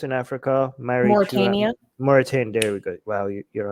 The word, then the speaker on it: Mauritania: What's that other country that I can never pronounce in Africa? Mauritania. Mauritania.